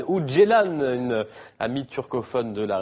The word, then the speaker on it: Ceylan: Nuri Bilge Ceylan ou Ceylan, une amie turcophone de la rédaction, vient de me dire qu'on disait Ceylan.